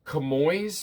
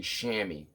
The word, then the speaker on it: chamois: o so it's it it looks like camoy's but it's actually shammy if you say shammy